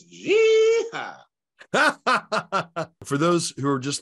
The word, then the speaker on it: jihad: Or no, you said it wrong. It's jihad.